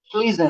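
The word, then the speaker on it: schließen: श्लीजन। Fear श्लीजन श्लीजन श्लीजन का मतलब close. Fusion नहीं नहीं, श्लीजन क्लोज श्लीजन श्लीजन।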